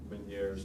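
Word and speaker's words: Ménière's: vertigo this can also be caused by uh meniere's disease that's how it's pronounced but you'll hear about this i guarantee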